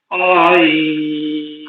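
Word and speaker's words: عين: mute আছেন আপনারা আপনাদের জায়গা থেকে পড়েন আই আইন আ টান হবে না আ এরকমটা হবে না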